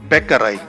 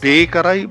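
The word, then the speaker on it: Bäckerei: careful because it is not Bakery but it's bakarai so it's Bakery and Becca no and uh you know that which means Baker no Bakery is Bakery but it's bakarai not bakerai but bakarai so very important here a backpack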